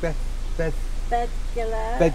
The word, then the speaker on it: Beddgelert: And we're at, what's it called, Beddgelert. That's how you pronounce it.